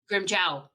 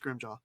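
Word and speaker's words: Grimmjow: he's like blood splatters grim jaw grim chow you his official name is pronounced grim jaw you can argue with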